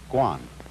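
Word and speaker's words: 觀: that means seeing and the whole character is pronounced guan and it means a certain kind of observation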